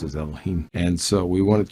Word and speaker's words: Elohim: do a bible word study on the word elohim the lemma not god okay i'm not selecting